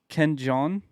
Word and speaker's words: Ken Jeong: So, Ken Jeong, I think is how you say his name.